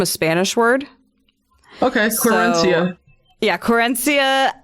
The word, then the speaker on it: querencia: Spanish word okay yeah corencia quirencia I think is the correct pronunciation so everyone who has